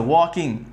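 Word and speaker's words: walking: लिखा हुआ है वॉकिंग ये एल जो है ये एल साइलेंट है क्या है एल ये साइलेंट है इसका भी फायदा पढ़ाया जाएगा अभी आप समझ लीजिए की एल इसका साइलेंट है वॉकिंग नहीं पढ़ते हैं इसको वॉकिंग पढ़ते हैं क्या पढ़ते हैं वॉकिंग तो सेंटेंस है वर्ड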